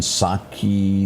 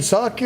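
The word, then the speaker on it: Psaki: You know, I brought this up a minute ago and and I and I may have mispronounced her name. Jen Saki.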